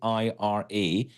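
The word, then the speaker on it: Aira: well just search for Ira Explorer to spell that out for you a i r a Explorer that's Ira Explorer check out the website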